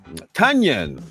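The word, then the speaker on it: Tonyan: Tunyon. There you go. I'm on it. Onion with a T in front, right?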